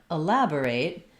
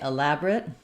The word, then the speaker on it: elaborate: you of that verb it has second syllable stress and the lab the